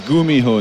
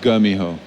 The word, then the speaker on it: GuMiho: I just say first it's Gumiho not the gummy I just wanted to get that out of the way okay so it's let's have this again I want to hit the proper pronunciation not gummy ho okay there it is